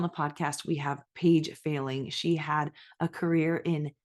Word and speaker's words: Fehling: my name is Paige failing and it is failing pronounced like failing a test I always like to